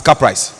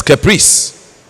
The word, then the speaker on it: caprice: want any student from this constituency to pronounce the word c-a-p-r i see as car price when it is caprice because if you don't